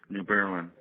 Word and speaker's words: New Berlin: New Berlin. New Berlin, okay.